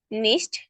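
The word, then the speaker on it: nicht: হুম, নো বা don't, নিস্ট মানে ওই এসের উচ্চারণটা একটু কিভাবে করব, মানে আলাদাভাবে স্পেসিফিক করব। নিস্ট, নিশ্চ নিশ্চ আচ্ছা, নিশ্চ উচ্চারণ করার পরে স বলে একটা মুখ দিয়ে মানে দাঁত দিয়ে করে এরকম করে না সাউন্ড, নিস্ট, এরকম করে একটা উচ্চারণ করবে ওকে, নিশ্চ নিশ্চ।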